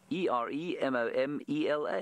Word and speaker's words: Eremomela: Eremomela. It's exactly as you say it. Eremomela.